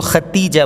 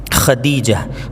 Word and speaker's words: خدیجہ: عین سے ہے۔ خالدہ، خدیجہ، بہت سے لوگ اس کو ختیجہ بولتے ہیں، تا سے، تا نہیں بلکہ یہاں پر دال آئے گا، یہ بہت بڑی غلطی ہے ہمارے یہاں تلفظ کی۔ خدیجہ۔ خولہ، خنسہ، سین سے